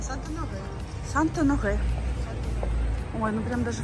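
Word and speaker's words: Saint-Honoré: Как она правильно будет по-французски произноситься? Санто-Норе? А, Санто-Норе.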